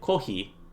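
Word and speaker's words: コーヒー: So, to say coffee, they say kohi, because those are the syllables that they have that sort of closest relate to the pronunciation of coffee.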